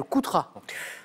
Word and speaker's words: Coutras: Oui, la bataille de Coutras, avec un S à la fin qui ne se prononce pas.